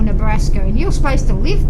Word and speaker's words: Nebraska: Instead of saying it properly Nebraska, they say Braska. No, they say it properly. I actually used to work in Nebraska, Oh, I'm and sorry. they call it the state. They call the state by its proper name, Nebraska.